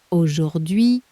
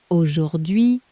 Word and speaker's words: Aujourd'hui: Aujourd'hui. Your turn, it's a mouthful, take it slowly. Aujourd'hui.